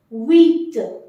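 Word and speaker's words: huit: eight how to say wheat wheat H will not be pronounced H is considered as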